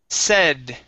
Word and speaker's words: said: up is the word said okay instead of s it's a long a it's a short e Charlie said to Pepper